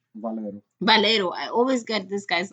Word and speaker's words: Valero: We when we were recorded this before, we discussed how he reminds me a lot of Valerio. Valero. Valero. I always get this guy's last name wrong.